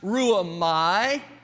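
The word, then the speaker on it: ῥύομαι: Very quickly, that word in the Greek is pronounced ruamai.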